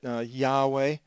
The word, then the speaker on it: Yahweh: of who uh the Lord Old Testament Yahweh is one possible pronunciation so he reports that